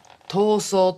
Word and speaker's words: 逃走: 塗装ってなんだこれはね逃走って読むんだこの時代つまり 1960